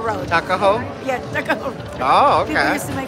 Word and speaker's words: Tuckahoe: Tuckahoe Road. Tuckahoe?